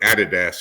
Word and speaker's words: Adidas: I work for Adidas, or Adidas if you're in Australia. They pronounce it a little differently.